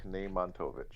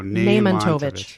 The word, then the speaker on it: Nejmantowicz: My name is Maciej Nejmantowicz. How's that? There we go. Nejmantowicz. Okay. That's actually pretty easy. Uh-huh. It's actually not too bad. Nejmantowicz on the first syllable.